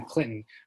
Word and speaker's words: Clinton: like to pronounce in clinton uh where the t is sweet and silent and we're the blue